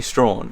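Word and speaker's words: Strahan: throughout this entire video it's actually stra and we didn't realize until we were on the Gordon River Cruises because the captain kept saying straw and I'm like oh my god I've been saying it wrong this whole time um so yeah thanks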